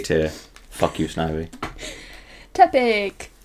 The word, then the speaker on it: Tepig: Tepig. T-Pig. What? T-Pig. No. That's not how it's pronounced.